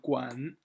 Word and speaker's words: 馆: So this one Guan third tone and right part Guan is the first tone.